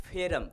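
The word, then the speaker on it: ferrum: Actually Fe that is फेरम, फेरम means iron, या उसका pronunciation Mumbai में महाराष्ट्र में आयन भी बोलते हैं, आयन बेसिकली आयरन या आयन।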